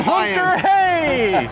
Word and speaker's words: Hunter-Reay: man good old Ryan Hunter Ray Paulo for the Brazilian Grand Prix since in Portuguese yeah the letter R is pronounced as an H yeah I loved hearing